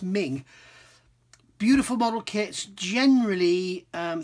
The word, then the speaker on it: Meng: doing this at the end um um they're pronounced ming beautiful model kits generally um 35th scale modern